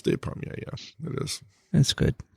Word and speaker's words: Despommier: And, until I got out of the house, that's the way I pronounce it. Now you say Despommier, right? Despommier. It's Despommier, yeah.